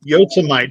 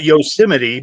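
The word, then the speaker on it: Yosemite: you know o and then the the E is silent yeah yite yosmite not yosim but well that sounds like a kitchen countertop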